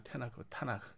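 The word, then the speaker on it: תנ״ך: 타나흐라고 읽죠. 타나흐.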